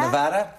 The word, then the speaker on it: Nevada: Yes, and how do you pronounce Nevada? Nevada?